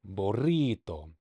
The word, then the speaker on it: burrito: So in Spanish, when you see the double R, like in my last name, or burrito, burrito. then you really gotta like hit that R.